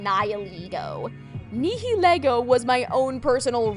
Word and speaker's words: Nihilego: Also, I remember before the anime was dubbed into English, there were a lot of people, including myself, that pronounced its name the Latin way, Nihilego.